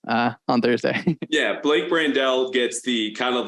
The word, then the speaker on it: Brandel: here I'm starting to say that again Blake brandell is that the correct pronunciation yes well I I yeah I think